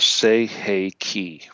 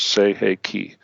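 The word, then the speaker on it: Sei He Ki: symbol number two is called the say hey key that's s-e-i -h-e-i -k-i okay three words say hey key s-e-i-h-e-i-k-i okay now the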